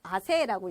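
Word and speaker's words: 汗: 그래서 우리가 땀을, 요걸 써서 우리가 아세라고 읽거든요.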